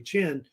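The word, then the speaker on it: Qin: I guess right here called Ken or Chen really Chen they say it actually Chen Chen's gonna take over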